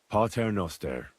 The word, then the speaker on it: Pater Noster: Pater Noster, qui es in celis, sanctificetur nomen tuum.